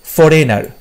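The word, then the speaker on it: foreigner: ফরেনারে তুমি যখন বলছো এখানে কিন্তু জি এর উচ্চারণটা হচ্ছে না, তোমাকে রেন যেটা আছে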